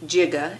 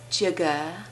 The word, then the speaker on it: giga: So that when you see giga, and yes, it's really pronounced giga, and second pronunciation, but not the preferred, is giga.